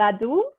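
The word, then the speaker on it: laddu: that wrong is it is that how you pronounce this sorry was it is saying and ladu yes oh okay i think ladies sound very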